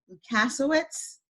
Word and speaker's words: Lusawicks: Today I'm trying to get her last name correct, so the pronunciation of it. It's Cassie Lusawicks.